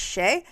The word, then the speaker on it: chez: But it became my online name because if you take the name CHZ in French, I believe it's pronounced she and Sheay means house.